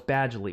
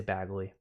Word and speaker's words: Badgley: Oh, it's Badgley. Well, yeah, it's Badgley. I say Bagley.